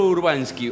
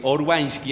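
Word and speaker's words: Urbański: Urbanski, Urbanski, ¿así se pronuncia? Sí, hay que pronunciarlo en polaco.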